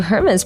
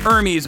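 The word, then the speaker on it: Hermès: without saying anything else I knew that Hermes was spelled h-e-r-m-e-s oh I could understand the mistake but I restrained myself from lecturing them that you don't pronounce the h in the company's name this is gonna help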